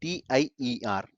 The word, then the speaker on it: tier: and end tier architecture tier it is spelled as t i e r not tire it is steer like one tier ac2 tracy okay so